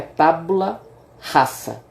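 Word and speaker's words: tabula rasa: De acordo com John Locke, a nossa mente era uma tábula rasa. Em latim, o S ele tem a pronúncia de S, não tem Z. Né? É tábula rasa, né?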